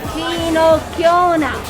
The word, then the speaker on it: finocchiona: The typical salami of Tuscany, and how do you pronounce it? Finocchiona. Finocchiona.